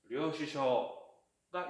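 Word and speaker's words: 領収書: 그리고 저도 초반에는 이게 발음이 되게 애매했어요. 박자가 좀 길게 느껴져서. 뭐냐? 영수증부터 하면은 료, 슈, 쇼, 료슈쇼가 영수증이에요.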